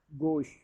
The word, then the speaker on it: gauche: Word है number 4, गोश। गोश GAUCHE, गोश। देखो जिस तरीके से हम गो कहते हैं ना, गो, तो गो के आगे श लगा दें, गोश, सही प्रोनाउंसिएशन अदा हो जाएगा।